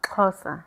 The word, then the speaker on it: Xhosa: But I've been pronouncing it right. And then you've been saying no. All this while. Xhosa.